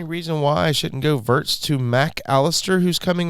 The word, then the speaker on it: Wirtz: Florian Wirtz hurts. Oh, it rhymes.